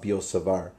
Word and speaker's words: Biot-Savart: the law of biot-savart I don't think you pronounce the T actually it's the law of biot-savart or the magnetic field